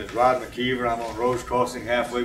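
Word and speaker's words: McIver: spell MC capital IVER, even though it's pronounced McKeever.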